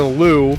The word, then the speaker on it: Liu: He and his brother Lou, which is spelled like Liu Kang for some fucking reason, they move to